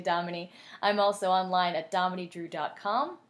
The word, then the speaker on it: Dominey: Don't be shy to ask me how to spell my name or how to pronounce it. I get that a lot. It is actually Dominey.